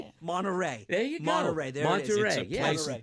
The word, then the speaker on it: Monterey: Monterey.